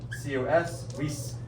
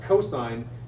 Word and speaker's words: cosine: Again, abbreviating cosine, we say C-O-S. We pronounce that cosine. You don't pronounce that cos.